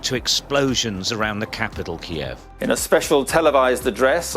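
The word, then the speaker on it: Kyiv: Ukraine which a lot of people used to pronounce Kiev but which we now know is pronounced Kiev in their Advance the Russian army made critical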